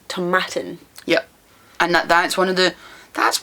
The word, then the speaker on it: Tomatin: this one already about tomatan tomatin no Tom it's like tomatoes it's tomatin yep and and that